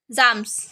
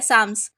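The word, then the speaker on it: Psalms: है वो letter day साम्स उसके लिए मिला था ठीक है साम्स इसमें एल और पी साइलेंट है साम्स पढ़ेंगे इसको ठीक है लेटर डे साम्स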